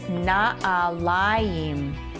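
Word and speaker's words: נעליים: And you would pronounce this na'alayim.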